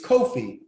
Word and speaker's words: Kofi: boy born on friday it's kofi which phonetically it's pronounced or it becomes anglo-sized as coffee there are hundreds and